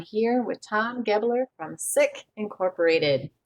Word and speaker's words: Sick: Well, Sick is the name of our founder, Dr. Erwin Sick. In Germany, it would be pronounced Zick.